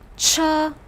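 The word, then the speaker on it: 车: make out the remnants of the old picture cha pronounce with me cha this means vehicle or wagon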